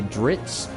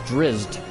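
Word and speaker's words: Drizzt: drizz dueren series uh I think drizz drizz is spelled driz or something like that but I think even the author sometimes will say dritz which is not how it's spelled it's there are Z's before the T unless the z's are silent there so I think it's drizz not drits plus it's t at the end not TS or TZ so it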